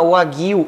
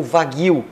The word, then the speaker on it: Wagyu: Mas o nome dessa raça se chama Wagyu ou Wagyu. Porque é com W, então dependendo da região o pessoal pronuncia Wagyu ou Wagyu. O alemão pronuncia Wagyu, o inglês pronuncia Wagyu.